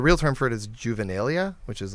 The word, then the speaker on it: juvenilia: It sounds like a pedophile Juvenilia. something. Like, Right. I'm not sure I know juvenilia stuff with you. Exactly. I think because it rhymes with genitalia.